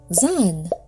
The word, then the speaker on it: Zan: Zan, pronounced za.